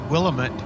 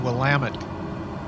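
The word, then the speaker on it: Willamette: that's the pronunciation there but she said willit uh that's actually the wamt river uh which runs down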